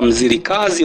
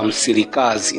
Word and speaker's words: Mzilikazi: Lakini pia kulikuwa kuna mmoja anaitwa wengine wanamuita mzirikazi wengine wanamuita msirikazi nategemea na eh jinsi ambavyo ametamkwa.